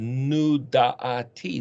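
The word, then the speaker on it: נודעתי: And you'd pronounce that as Nun Vav Ayin Dalet, Tav Yod, Nudati.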